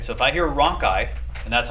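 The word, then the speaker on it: rhonchi: so if i hear roncai and that's how you pronounce it not raunchy but roncai okay roncai is an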